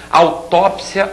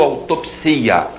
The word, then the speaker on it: autópsia: Autópsia ou autopsia. As duas são corretas em português.